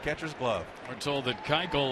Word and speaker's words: Keuchel: Keuchel, it's pronounced.